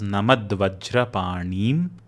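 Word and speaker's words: नमद्वज्रपाणिम्: The next word is Namat Vajrapanim, which becomes Namad Vajrapanim. In both of these words, make sure that you are pronouncing that E as a long vowel, not Namadvajrapanim. That would change the meaning.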